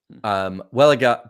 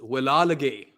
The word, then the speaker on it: Wellalage: Welliger being have we worked it out? Is that the right pronunciation? No, it's I think the right or correct pronunciation is Wellalage.